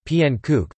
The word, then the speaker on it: Pannekoek: a pending cook Dutch pronunciation PN kook plural pan and Koken